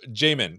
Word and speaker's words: Jamin: don't you introduce yourself we'll start with you Jamin did I say it right you did and that's a 50 50 shot so you did pretty good uh my name is Jamin and I am a product manager at Nuance